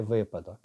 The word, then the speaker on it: випадок: Показник випадок чи випадок? І так, і так вживається насправді тільки випадок.